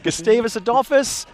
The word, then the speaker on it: Gustavus Adolphus: you pointing that out gustavis adus you can just call them gustavis for short that's what uh most people in Minnesota do sometimes you forget there even is an adus on the end of it um and I think